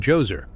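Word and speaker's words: Djoser: The story kicks off with King Joser, pronounced Jose, the first ruler of the third dynasty, a man who leaned heavily into the whole god king concept.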